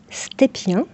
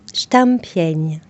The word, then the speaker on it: Stepien: Mon nom de famille, on le prononce Stépien, Oui. mais il est d'origine polonaise ce nom. Et en polonais, on le dit Stampień. Il y a un accent sous le E et un accent sur le N.